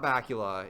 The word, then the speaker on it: Bakula: play in college now Scott Bakula is one of the only actor names I can remember because it rhymes with Count Dracula more importantly he was